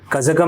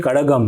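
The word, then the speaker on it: கழகம்: उच्चारण सही करता हूँ, वहाँ पे एक्चुअली चोला नहीं चोड़ा है, ओके, कजगम नहीं कड़गम है।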